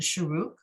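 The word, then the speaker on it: שורוק: That's the Sharuk. 1 dot is a Chirik. It sounds, oh, I'm sorry. So Sharuk sounds like oo, right?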